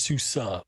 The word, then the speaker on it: SUSE: And it's SUSE, pronounced SUSE, but it looks like Susie. Yeah, I always thought it was Susie too.